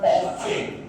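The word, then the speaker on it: often: Water water অফেন।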